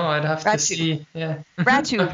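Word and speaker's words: Rattoo: Ratu rhymes with tattoo.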